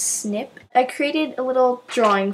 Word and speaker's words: SNP: it stands for single nucleotide polymorphism it's actually pronounced snip i created a little drawing for you there